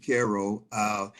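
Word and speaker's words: Cairo: Caro, we pronounce it Caro.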